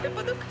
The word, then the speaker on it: випадок: немає жодних підстав слово випадок у літературній мові завжди мало і має тільки один наголос на першому складі воно належить до цілої